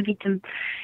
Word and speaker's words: Vitim: The Chilut, Lake Baikal, I forget how you pronounce it, the Vitim or the Vitim River, and the Amur River. Yep, the Vitim.